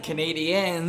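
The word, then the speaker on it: Canadiens: I love how you're emphasizing Canadians.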